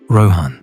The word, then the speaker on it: Rohan: Rohan, he writes, row like the Greek letter, plus hon like honey. Naid do nigh like Bill Nye plus do like Scooby-Doo.